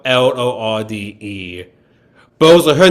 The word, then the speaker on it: Lorde: her intention is to make it sound like Lord, our Lord and Savior, but I know her name has an E at the end of it. Yeah, it's spelled Lorde.